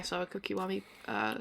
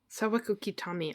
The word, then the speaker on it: Sawako Kitami: get to see my Sawako Kiwami cosplay. Fuck. Sawako Kitami. I can't say her name right. Sawako Kitami. It's kind of got Sawako Kitami. There you go.